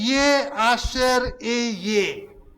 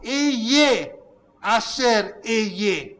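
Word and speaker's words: אהיה אשר אהיה: यसरी यसलाई भनिन्दछ है, Ye Asher Ye. ए आसेर ए भन्ने चाहिँ हिब्रूमा चाहिँ यसलाई यसरी भनिन्छ। I'll say that again. फेरि भनौँ, I am who I am is pronounced Ye Asher Ye.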